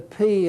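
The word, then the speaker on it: πι: called it pie but technically the word is pronounced P just like the English letter P would be pronounced and it's pronounced like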